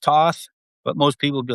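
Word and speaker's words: Thoth: So the history of both the Atlantic, they don't read that, and his name is pronounced Toth, but most people would be like, "What did he say?"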